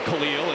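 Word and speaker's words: Kel'el: You know, some folks pronounce it Khalil and he says that's okay, too.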